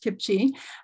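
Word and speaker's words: CPCHE: action next slide please so Kipsy the Canadian partnership for children's health and environment um pronounced kimchi is a national collaboration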